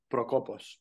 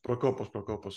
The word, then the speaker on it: Prokopos: The last name Prokopos. Prokopos, awesome. Thank you so much. I've got a. How you write it is how you say it.